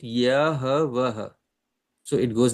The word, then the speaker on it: Yahweh: And if you phonetically try to pronounce it, Yahweh.